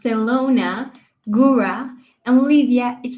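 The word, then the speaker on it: Zielona Góra: For our listeners, that's pronounced Selona, Gura, and Livia is pronounced Livia.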